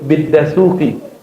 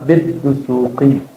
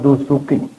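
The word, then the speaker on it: Dasuqi: Contoh dia nyebut biddasuki itu orang Padang tuhuki yang tepat adalah bidusi, Imam Dusuki.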